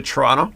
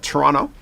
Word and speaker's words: Toronto: I'm Canadian from uh Toronto and you'll know who a real Canadian is because they don't say Toronto the T at the end they don't pronounce it yeah yeah yeah yeah